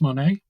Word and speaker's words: Monet: with me today Darcy Monet Darcy have I pronounced your last name properly like the artist Monae yes thank you you